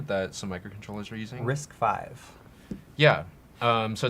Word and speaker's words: RISC-V: RISC-V, pronounced RISC-V, is an open case instruction set architecture based on established roadways.